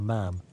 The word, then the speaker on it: ma'am: instead of the proper ma'am, even demonstrating the correct pronunciation by comparing it to the word spam.